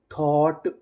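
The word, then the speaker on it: thought: अगर आपको इंग्लिश में कहीं पर जीएसटी लिखा मिले तो हम लोग जीएसटी को पढ़ते हैं ट।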